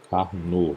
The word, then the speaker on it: Carnot: Carnot. Lembrando que esse T aqui, que é um nome francês, não é pronunciável, né?